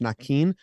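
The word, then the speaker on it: Naquin: And Nakin, Tyler Nakin says it's supposed to be pronounced Nakin.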